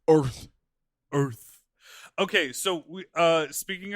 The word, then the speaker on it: Urth: Also, it's spelled URTH. Yeah, it's Earth.